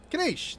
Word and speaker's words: Kinich: Kanish! That's how you say it. I can't say his name unless I'm looking at it. Kinich?